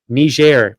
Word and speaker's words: Niger: State Department in 5 African nations, including as a general service officer in Niger. Now, this is a country called Niger, and it's spelled Niger, and it's pronounced Niger.